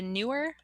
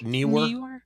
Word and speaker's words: Neewer: Generic, the newer, I think's how you say it. Newer. Neewer.